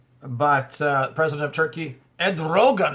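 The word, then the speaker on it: Erdoğan: uh president of Turkey Ed Rogan is how you say his name uh said not on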